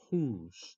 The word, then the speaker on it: whose: one for today is who's w o s e the pronunciation is who's okay who's for example